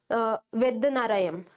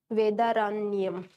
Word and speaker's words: Vedaranyam: And about Tanjore coast, it was from Trichinopoly to Vedanarayam something. I'm very sorry for my pronunciation. I'm not very good in that. Trichinopoly. I must be very clear with the spelling also. Trichinopoly. It is Vedaranyam.